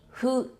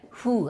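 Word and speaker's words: ふ: That's ha, hi, hu, he, ho. Remember, hu? We don't have the F sound, right? So we pronounce it like hu, as if you're blowing candle.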